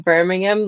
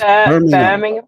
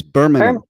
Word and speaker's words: Birmingham: so entertaining being in Birmingham like that just listening to people. No, you're saying it American again. It's Birmingham. It's Birmingham.